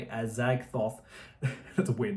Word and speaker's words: Azagthoth: That's one thing I haven't mentioned is Trey Azagthoth. That's how you say it, Azagthoth.